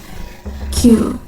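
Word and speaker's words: 九: The number 9 and the word pain also share the pronunciation Q.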